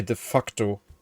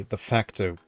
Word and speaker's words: de facto: I can't say def the facto because that that's how you pronounce it in German, but that's naughty. So, let's not say def facto. Let's say the facto.